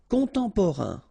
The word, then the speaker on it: contemporain: So it will be a nasal, so it will be en. And here another nasal, on. Contemporain.